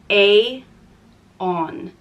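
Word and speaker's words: Aodhán: it means fire and it's pronounced Aon Aon and the angle siiz version of this name is Aiden and Aiden is a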